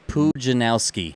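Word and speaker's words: Pudzianowski: You're gonna have to do it phonetically. It's Pujanowski.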